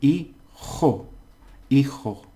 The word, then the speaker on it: hijo: Now you don't pronounce this. Okay. And remember the J is a J. So it's in hijo.